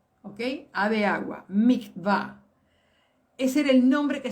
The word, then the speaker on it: mikvah: A de agua, mikvah.